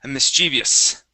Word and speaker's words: mischievous: and one last word this word here is mischievous mischievous okay there you go nice job everything